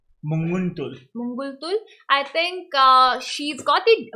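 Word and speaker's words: Munguntuul: Even though Humpy's opponent, that is I think Mangaltul. How do you pronounce the name? Mangaltul. Munguntul.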